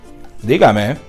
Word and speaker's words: dígame: So for example, a word like diga, it's the first rule, the basic, two syllables, the stress is on the first syllable, this one, no accent. But then if we want to add, let's say, me, dígame, basically the root word will be taken into account, and you just add an accent, boop, because this is now the first syllable of three syllables.